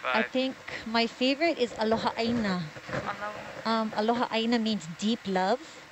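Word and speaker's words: aloha ʻāina: So aloha, A-L-O-H-A, and then aina, there's a okina in front of the A, a kahako over the A, which elongates the vowel, I-N-A, aloha aina.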